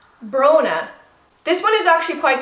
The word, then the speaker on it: Bronagh: but if you want to pronounce Bronagh, just put the bro in front of, so Bronagh. Deirdre.